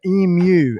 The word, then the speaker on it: emu: And it's emu. If you could try and think of Emu. and then you, like hello, me, and you. So emu is sort of how we pronounce it.